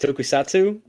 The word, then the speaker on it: tokusatsu: tv tokats tokens how do you say that tokusatsu tokusatsu yeah you think i would have read that and tried to pronounce it before the live read but whatever